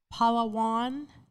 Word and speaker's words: Palawan: So, you know, we just want to have a conversation with you, talk to you about, is it Palawan, Philippines, if I'm pronouncing it Yes.